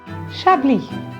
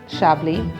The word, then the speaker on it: Chablis: Chablis. The S is silent in Chablis, and it is always pronounced Chablis.